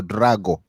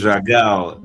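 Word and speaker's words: Dragão: So, in other words, he's not going to be at the Estadio do Drago No, no. tonight. Dragao. Dragao, yeah, Dragao. Yeah, Yeah, the Dragao Stadium. pronunciation. Yeah, Yeah, that is correct.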